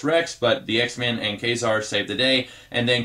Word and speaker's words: Ka-Zar: the news his name is kazar I've always pronounced it qasar but this issue says kazar ka Y - SAR that's how it's pronounced